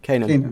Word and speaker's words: Canaan: pronounce that? Canaan. Okay, Canaan.